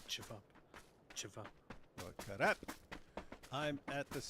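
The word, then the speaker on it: ćevap: But as we all know, these letters have different sounds, and I think the V is it. I think the V is pronounced R, so it's karap. No, it's actually chivap.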